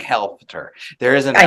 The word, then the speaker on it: Helfter: I'm like Helfter. There is an I L. know. There is an L.